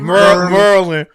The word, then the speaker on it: Maryland: How they say it? Merlin. MERRRRILN. I mean LIN.